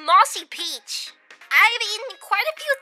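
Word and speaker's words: Mozumi Pichi: it's not it's gibberish it's supposed to be Mossy Peach I've eaten quite a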